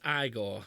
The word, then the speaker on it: Igor: when he's uh talking when they're eating it's pronounced igore yeah God Dam anyway when he started